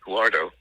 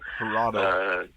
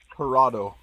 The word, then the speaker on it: Jurado: is Kitty in the film, played by Katie Huardo. I hope that's how you pronounce her name. Jurado. J-U-A. Say it again. Jurado.